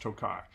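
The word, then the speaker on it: Tokaji: um it's in a hungarian dessert wine called tokai um i've looked up several times and several told me to pronounce it it's pronounced tokai it's a wine from a region in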